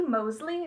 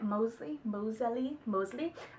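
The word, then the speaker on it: Moseley: sent and stuff, and it is by Christy Mosley. That's how you say it. Mosley.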